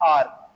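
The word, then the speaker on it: hour: आवर के लिए। Okay sir, हम लोगों ने बचपन में हमेशा पढ़ा है कि जो आवर होता है इसमें एच जो है वो साइलेंट होता है, ठीक है, या फिर ये एम्प्टी साउंड रखता है सर।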